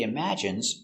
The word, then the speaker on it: imagine: He imagines traveling in space. Let's take a closer look at the pronunciation. Pronunciation. Imagine. Imm strong sound. Imagine I imagine. Imagine. Imagine. Stress on the second syllable.